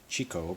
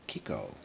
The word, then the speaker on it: Chicco: the way it's spelt you would think it's chico but uh from visiting the website they say kiko it's a good-looking seat